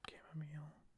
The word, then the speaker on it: chamomile: sign for me with chamomile. Or chamomile, however you want to pronounce it. I pronounce it chamomile.